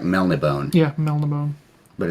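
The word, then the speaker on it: Melniboné: ] okay michael morocco fortunately and and it's mel de bone it's got the accent above the e there's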